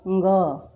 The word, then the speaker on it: ङ: इस ङ को बोलने में बहुत से लोग मिस्टेक करते हैं। इसे ण भी कहते हैं, इसे इय भी कहते हैं, इसे अंग भी कहते हैं, इंग भी कहते हैं, लेकिन इसका स्पष्ट और शुद्ध उच्चारण है ङ।